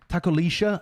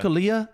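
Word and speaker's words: tacolilla: Apparently, it's like Lisha because it's like Argentinian Chilean pronunciation. SHC or something. I thought it was Takolia, and the casters were saying Takolisha, and apparently double L is a sh sound in like some places an in SHC South America or something like that.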